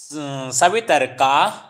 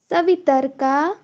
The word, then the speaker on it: सवितर्का: ज्ञान विकल्पे संकीर्णा संकीर्णा सवितर्का सवितर्का समापतिः। समापतिः। तत्र शब्दार्थ, तत्र शब्दार्थ ज्ञान विकल्पैः संकीर्णा सवितर्का समापतिः। तत्र शब्दार्थ ज्ञान विकल्पे संकीर्णा सवितर्क समापत्तिः। सवितर्क नहीं है, आ का उच्चारण भी करो।